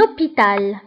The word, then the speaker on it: hôpital: اش ما كنطقوهاش فكنقولوا un hôpital.